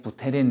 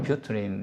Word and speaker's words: Buterin: 우리말로는 비탈릭 부테린 이렇게도 쓰는데, 영식 발음은 뷰트린 이렇게 얘기를 해요.